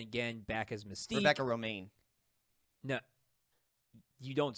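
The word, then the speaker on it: Romijn: to john stamos it was rebecca romain really yes yeah that's bizarre it's spelled r-o-m-i-j-n at every every news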